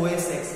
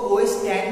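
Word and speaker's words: OS X: उनका बोला जाता है ओएस एक्स, क्या बोला जाता है ओएस एक्स, उनको ओएस टेन भी बोल सकते हैं प्रोनाउंस है ओएस, उसको प्रोनाउंस कैसे किया जाता है ओएस टेन, ओएस एक्स को क्या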